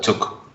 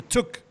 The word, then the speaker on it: toque: Yeah, it's called a tuk. A tuk. Yeah. How do you spell that?